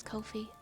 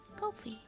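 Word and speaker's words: Ko-fi: How do you pronounce Yeah, the actual creators. Have said that it's Yep. I see. Yep, that's exactly what I found, is the tweet that you've mentioned there. Well, now we know. Now we know. I never would have thought it was Kofi.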